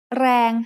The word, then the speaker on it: แรง: แรง has a low-class consonant and a live ending, so it is pronounced mid-tone.